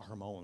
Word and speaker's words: Hermon: mount ramon i know what i thought was mount hermon i was saying it wrong i had a theologian that i asked about this correct me said it's not my herman's man it's mount hormone i was like i